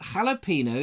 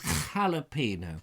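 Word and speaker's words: jalapeño: Steve says, I'm in shock that Vobes knows that jalapeno is pronounced with an H.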